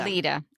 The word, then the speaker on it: Aletta: It's spelled Aletta, but it's pronounced Alida. Alida.